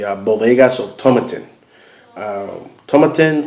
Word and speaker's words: Tomatin: bodas of Toman um tomatin or tomatin I think it's pronounced tomatin U I've heard it both ways but either way the